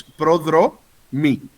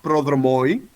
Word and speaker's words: prodromoi: So it's prodro mi, not oi, not prodromoi, prodrom I.